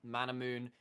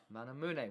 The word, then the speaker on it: Manamune: You go like Mana Moon is as opposed... Manamune, we are on the Japanese cast, we will Sure. pronounce it appropriately.